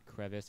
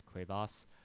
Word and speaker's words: crevasse: Prime here on cras someone told me it was the French pronunciation not crevis it's cras um I'm probably butchering